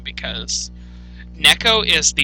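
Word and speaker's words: Neko: pronouncing his name because Neco is the correct pronunciation it's it's Japanese for cat um specifically house cat but um I always called him I always called him Nico when I was growing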